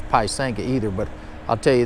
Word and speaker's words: pysanka: So it's not Pysanka, it's Pysanka, which is a Ukrainian word for Easter egg.